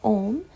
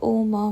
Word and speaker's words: ओम: बाबा को बोलते हैं अ ओ म में उ साइलेंट हो जाता है क्योंकि ओम बोलते हैं तो आगे का और पीछे का शब्द ही सुनने में आता है है अब अर्थ क्या